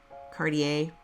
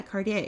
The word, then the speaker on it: Cartier: from Ubly to Uber LaPorte foreign correct pronunciation like if you go to Cartier go yeah Cartier you know you know I feel like a